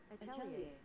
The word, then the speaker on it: atelier: How to pronounce Atelier? Give me 1 second. Can I not? Atelier.